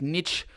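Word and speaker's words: Nietzsche: a very rare species this is from Fredick Niche I think that's how it's pronounced that name which is a pH which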